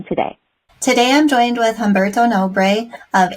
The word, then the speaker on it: Humberto: what we're covering today today I'm joined with homberto no of H Ranch in pontalina goaz Brazil thank you for joining me homberto thanks for having us it's nice to meet